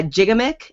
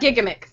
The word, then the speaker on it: Gigamic: France really right yeah it's it's gigamic it doesn't so literally their motto is it doesn't matter how you say it as long as you're having fun so um they I am told it's gigamic though we'll go with what